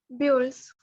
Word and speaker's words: build: builds. Builds. Builds. Building बोलते हैं ना? Yes, Build. Build, building, same thing. Same pronunciation होगा आपका. Build, U का pronunciation नहीं होता, build होता है.